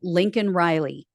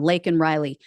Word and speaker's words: Laken Riley: They want to bring up Lincoln Riley. Yes, everyone is horrified by the Lincoln Riley story, right? Or Laken, excuse me, I'm saying her name wrong. Laken Riley.